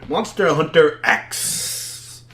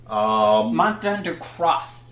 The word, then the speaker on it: Monster Hunter X: So the next one I got here, Monster Hunter X. Monster Hunter Cross. Yeah, so it's Cross. That's Remember, the technical pronunciation of it. In Japan, it's not X, it's Cross.